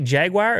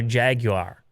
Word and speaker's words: jaguar: parent company of jag how do you say jaguar do you say jaguar or jaguar that's the if you're british you say jaguar the first one jaguar yeah like uh all